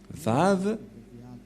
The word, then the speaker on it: Vav: Et nous allons voir la prononciation de la lettre V, c'est comme ça. Voilà le Vav. Vav ou W-A-W. Et comment ça s'écrit? Comment ça se prononce? C'est clairement V.